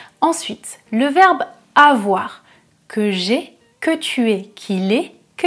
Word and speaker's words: que j'aie: Ensuite, le verbe avoir, que j'ai, que tu aies, qu'il ait, que nous ayons, que vous ayez, qu'ils aient. Attention, la différence entre le verbe avoir et le verbe aller, la prononciation est différente.